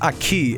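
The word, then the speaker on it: aquí: Aqui is pronounced Aki. It's Spanish for here.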